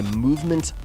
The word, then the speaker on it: MVMT: This episode is brought to you by Movement Watches. And that is spelled MVMT. Movement Watches.